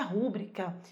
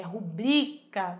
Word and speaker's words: rubrica: Não é rúbrica, é rubrica. Bri é o mais forte.